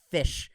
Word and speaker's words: Ghoti: O and like whatever, and then TI is like a sh sound. I forgot the actual words, but it's spelled GHOTI. But in English pronunciation, it's pronounced fish.